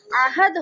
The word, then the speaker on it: عہد: بھی استعمال کرتے ہیں۔ ہم عین کے نیچے اردو میں زیر پڑھتے ہیں، عہد کہتے ہیں ہم اسے، لیکن حقیقت میں یہ عربی زبان کا لفظ ہے اور اس کے جو صحیح تلفظ ہے وہ عہد ہوتا ہے، عہد، عین کے اوپر زبر آئے گا۔ قرآن کریم کے اندر